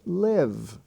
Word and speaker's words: live: etc now there are some exceptions for example in the ive spelling family you have g-i-v-e which is pronounced give or live which is pronounced live and in the in